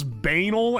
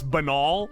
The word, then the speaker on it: banal: I pronounce this banal and people made fun of me. It's banal. Banality.